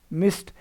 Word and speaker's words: missed: Missed. Here S ed. When you pronounce sir with ed ending, you should pronounce as t.